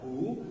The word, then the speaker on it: who: Jadi kata W atau huruf W tidak disebut, sehingga WHO ini bacanya adalah hu, bukan hu, bukan wu, tapi hu.